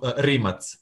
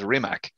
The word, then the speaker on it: Rimac: Of course, everyone is mispronouncing it as RImac. Yeah. It's not the American version. It's the we pronounce everything how it's written. So it's Rimac.